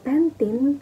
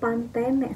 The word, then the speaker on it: Pantene: tulisan bahkan kayak eh pentin Shampo pentin itu jadi kalau kita kan tetap ngomongnya pentin ya sesuai eh kayak baca bahasa Inggris gitu Kalau orang Meksiko itu bnya Pantene sesuai sama tulisannya Pantene Nah itu kalau itu